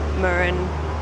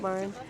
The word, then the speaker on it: Mürren: I've been saying it wrong, it's Mürren, not Mürren.